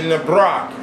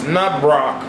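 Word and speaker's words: nábrók: If you want to make your own necropants, literally Nabrok is how it's pronounced, it's Nabrok, you have to get permission from a living man to use his skin after his death.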